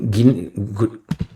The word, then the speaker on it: Guinea: Chad and Guinea, is how you say it, have opposed both sanctions of Niger and military deployment.